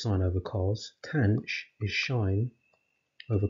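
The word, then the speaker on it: sinh: which we write as sine h now that's pronounced shine and that is defined in terms of e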